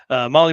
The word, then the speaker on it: Mahle: And for everyone listening to this, not watching, Molly is spelled Mahle.